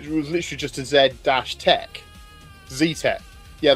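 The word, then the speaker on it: Zetec: Z-Tech. Yeah, they had to respell it here, Z-E-T-E-C, Z-Tech, because otherwise we called it Z-Tech, and it sounds a bit shit, doesn't it?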